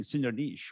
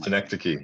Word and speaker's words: Synecdoche: Well, I met you when you were doing Synonyche, right? The Charlie Kaufman film. Synecdoche, yeah. I think who knows how to pronounce that?